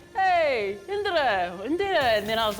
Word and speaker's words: Indira: One thing you might not know about me is that how you really pronounce my name is Indira or Indira. It's an Indian name.